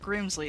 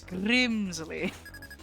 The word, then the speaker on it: Grimsley: You gotta say it like that. You gotta roll the R. And I will fulfill my duty to be your opponent. You gotta roll the R. It's not Grimsley, it's Grimsley.